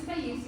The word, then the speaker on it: Taisiya: My name is Taisiya. It's pronounced like Alicia with a T at the front.